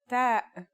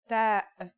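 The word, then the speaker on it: ت: The pronunciation is like the English T, except you should release your breath with a strong burst of air. Try it. Ta. Here's how to write the isolated version. Ta.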